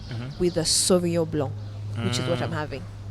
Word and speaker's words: Sauvignon Blanc: For a white, you will never ever go wrong with a Sauvignon Blanc, which is what I'm having. You will barely ever go How wrong. do you pronounce that again? Sauvignon Blanc.